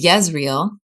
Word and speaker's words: Jezreel: of the word fruit Jezreel means uh is yezreel if you're going to say it in Hebrew um jezrael probably is how you say it but it's God